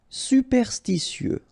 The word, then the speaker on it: superstitieux: Superstitieux. Okay, so final X not pronounced. Superstitieux.